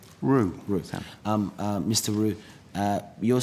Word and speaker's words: Rue: Is it, so am I pronouncing it Rue or Rao? Rue.